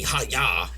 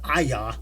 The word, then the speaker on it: Aya: of a gun that says my name wrong I'm need next time they call me Haya yeah you know instead of Aya and that's it you're